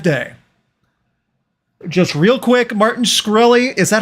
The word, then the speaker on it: Shkreli: Just real quick, Martin Shkreli, is that how you pronounce his name? Farmer Bro. Shkreli, yeah.